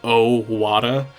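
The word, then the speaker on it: Ohwada: And also his name is spelled O H W A D A. Um, so it's O Wada.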